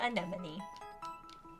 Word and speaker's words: anemone: Pronounce it like Nemo in the Finding Nemo movie. It's literally the same thing.